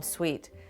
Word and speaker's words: suite: I have my own suite, which is, I spell it S-W-E-E-T.